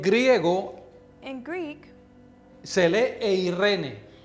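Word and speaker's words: εἰρήνη: En griego In Greek, se lee eirene. it's pronounced Irene.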